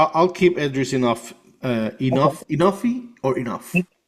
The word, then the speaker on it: Enofe: Enoughy or enough? Enofe.